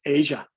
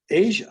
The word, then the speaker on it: Aja: album by steely dan the album title is spelled a j a which stevie then pronounces that as asia but voiceover does not